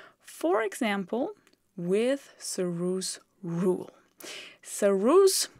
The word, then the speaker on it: Sarrus: For example, with su rule, sus is the name of the French guy. So actually the pronunciation would be su but never mind, we call him sus.